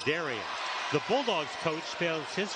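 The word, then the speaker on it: Derrin: He spells his name D-E-R-R-I-N, but pronounces it Darian.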